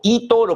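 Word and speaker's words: eToro: hecho fundamental de que Eoro, Toro, como se pronuncia en inglés, fijó su precio de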